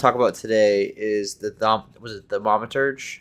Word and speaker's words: Thaumaturge: So the first thing I want to talk about today is the Thaumaturge? How do you say it? Thaumaturge? The Thaumaturge.